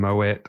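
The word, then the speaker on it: Moët: Um there's always misprononunciations like mo and moette. What's correct? I'm pretty sure it's Moette, but um I think we just try to be really fancy with French words.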